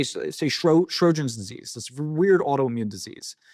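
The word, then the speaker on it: Sjögren: I'll just pick a random disease, but say Sjogren's disease. This weird autoimmune disease. It's Swedish. I always pronounce it wrong. It's Sjogren. So it's like Sjogren's or Sjogren's.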